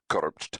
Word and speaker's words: Kursp: Kursp, pronounced Kursp, was the capital of the Republic of Kurspan,